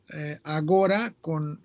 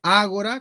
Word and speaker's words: Ágora: Bueno, como un tianguis, para no poner ninguno, en ese tianguis que se llamaba Agora o Ágora, algunos pronuncian Agora sin acento en la A y otros pronuncian Ágora con acento en la A.